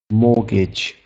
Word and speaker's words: mortgage: be aware of um the silent T here here this T is silent as you can see in the phonetic spelling there is no T sound morage morgage okay let's begin with uh